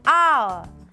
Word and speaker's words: hour: In some exceptional cases, an is also used for words starting with a silent H. For example, an honor, an hour, an honest man.